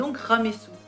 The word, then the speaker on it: Ramesses: So like a rebus, the name of Ramesses II is read RA-MES-SW.